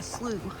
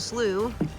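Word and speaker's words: slough: This is actually what they call a slooh. It's spelled s l o u g- h.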